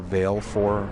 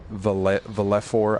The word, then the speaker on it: Valefor: This is Valfor, or Valefor, or Valefor. I've heard so many different pronunciations, but I call him or it Valfor, so you'll have the option to change the name here.